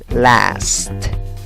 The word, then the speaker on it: last: Last. Last. Tira los labios hacia las orejas y di last. No te comas ni la S ni la T final.